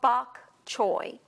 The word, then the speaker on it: bok choy: of your produce Department this is called bok choi bok CH o is how you spell it and it's a